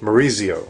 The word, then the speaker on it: Maurizio: No, Z-I-O with Z. Maurizio.